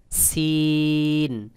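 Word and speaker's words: سين: তারপরে রয়েছে সিন। সিন। সিন উচ্চারণের ক্ষেত্রেও বাহিরের দিকে বাতাস বের হবে, তবে আওয়াজটা পাতলা মতো করে হবে, যেমন দেখুন, সিন সিন।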